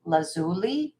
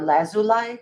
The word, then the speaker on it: lazuli: And this is lapis, lazuli, or lazuli, however you like to pronounce it.